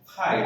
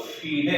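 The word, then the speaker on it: FIDE: फाइड कहते हैं, या उच्चारण की तरफ चेस को हम लोग फीडे कहते हैं।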